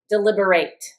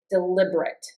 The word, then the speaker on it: deliberate: Notice that the verb and the adjective are the same word, but they're pronounced differently.